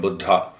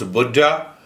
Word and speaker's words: Buddha: was a great master he was contemporary of Buddha in America we say Buddha so when you pronounce Buddha in Hindi it means very old and the